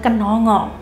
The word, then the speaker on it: kenongo: yaitu bunga kenangan atau dalam bahasa Jawa membacanya adalah Kenongo Kenongo Itu Ken ngono